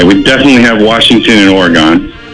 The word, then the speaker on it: Oregon: Oregon?